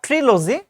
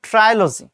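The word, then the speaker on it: trilogy: এবং পরবর্তী প্রশ্ন, যে ট্রাইলজি, নট ট্রিলজি, এটা উচ্চারণ করতে হবে ট্রাইলজি।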